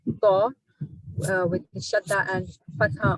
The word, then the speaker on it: ط: This is letter Ta, which is a heavy and thick letter.